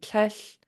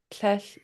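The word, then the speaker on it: tléil: It could be tlech, tlech, or tlech, tlech, tlech, or hesh. Those are just very different ways of saying not.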